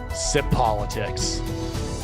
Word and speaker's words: Tsipolitics: everyone and welcome to the first edition of sip politics where the tea is silent but the truth is not my first